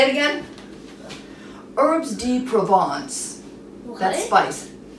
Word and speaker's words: Herbes de Provence: Herbes de Provence. What? That's spice. It's a new spice. How do you pronounce it? Herbes de Provence.